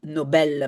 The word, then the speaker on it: Nobel: comme titre titre pardon Nobel parce que c'est comme ça qu'on le prononce en suois. On dit pas Nobel. En irlandais on dirait Nobel mais en sud c'est Nobel.